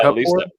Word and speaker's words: cupboard: It is spelled cupboard, but you don't put the hard.